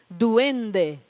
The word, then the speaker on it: duende: ninguém aqui sabia né duende é assim que se pronuncia aquelas palavras que não